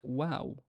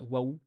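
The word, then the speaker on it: واو: uh and funny enough the name wow has a long vowel like this alif in the middle is basically a long vowel so notice how I pronounce it wow wow not whoa wow uh practice reading in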